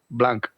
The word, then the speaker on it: Blanch: Alonso Pulido y Jaime Blanch, que luego me riñe, que no se pronuncia la H.